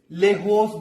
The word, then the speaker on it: lejos: Otro es lejos de, muy lejos de. ¿Sí? Se significa es away from. Lejos de. Y, pero en español es J. No Y. Se significa, pronunciación es H.